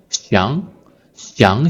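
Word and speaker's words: 想想: So when this 想, the third tone verb used in reduplication, it changed to the second tone, 想, 想想, 想想, and the second character is a gentle tone. I call it the gentle tone, right?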